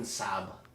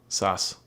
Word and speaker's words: Sass: Katrin Saab. No, Sas. Is that how you pronounce that letter? Yep, it's 2 S's together.